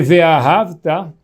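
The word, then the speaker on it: וְאָהַבְתָּ: se a gente lê Ve'ahavta, a gente está falando que a gente amou Hashem. O certo, a pronúncia certa é que essa palavra ela é oxítona.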